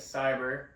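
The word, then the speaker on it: Sybr: yeah so we the the company name is cyber and it's spelled Sy YB R which is a play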